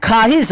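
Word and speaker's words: خواہش: बच्चों ख्वाहिश नहीं होता है बच्चों, ख्वाहिश। वाओ यहाँ पर मादुला है, वाव मादुला ग्रामर है, समझिए। वाव मादुला एग्जाम में आता है। वाव मादुला वह वाव है जिसे लिखा जाएगा, पढ़ा नहीं जाएगा।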